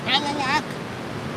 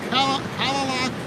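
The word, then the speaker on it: Kalaloch: We are on, I think it's pronounced Callalak, or Callalak Beach.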